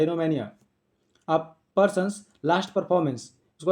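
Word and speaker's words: oenomania: Obsession for wine, जिसको शराब की लत हो, शराब के लिए बहुत ज़्यादा ऑब्सेशन हो, उसको आता है अनियोमेनिया, इनोमेनिया पढ़ा जाता है, वो साइलेंट रहता है, इनोमेनिया।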